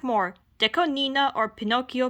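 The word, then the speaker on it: DECO*27: Oh, and also, Deco Nina. It's not Deco 27, it's Deco Nina. That's the official pronunciation.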